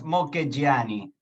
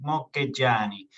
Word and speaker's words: Mocchegiani: Bueno, en italiano es Mocchegiani, ¿viste? Parece que le cuelga, le chorrea el tuco, se dice así, Mocchegiani. No, Mocchegiani. pero aquí simplemente Mocchegiani.